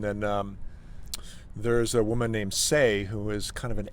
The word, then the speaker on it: Seay: And then there's a woman named Say, who is kind of an ambient, new age artist. How do you spell that?